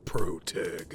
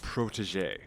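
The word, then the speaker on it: protégé: I'll have to push that responsibility to my pro tag. It's pronounced protetéé.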